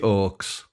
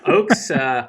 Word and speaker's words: Oakes: Zach, the Mighty Oaks.